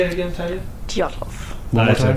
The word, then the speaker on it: Dyatlov: Dyatlov. One more time. Say it again one more time. Dyatlov.